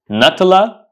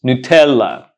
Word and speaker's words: Nutella: pronounce it do you pronounce it natala the correct pronunciation is Nutella Nutella it's an Italian brand